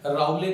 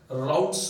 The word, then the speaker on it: Raoult: लेकिन जब English medium में इसको लिखते हैं तो आपके पास RAOULTS राउट्स होता है, टी साइलेंट होता है, हिंदी में इसको कहते हैं राउले, राउट्स लॉ बोला जाता है।